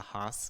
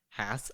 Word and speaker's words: Hass: avocado we see, the Hass avocado or the Hass avocado, if you want to go with the more proper way to pronounce it. It's actually named after a guy named Hass.